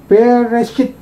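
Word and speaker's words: בְּרֵאשִׁית: Nah, ini saja bacanya bereshit.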